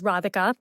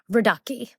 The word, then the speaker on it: Radhika: The bride's name is Radhika, and she said Radaki.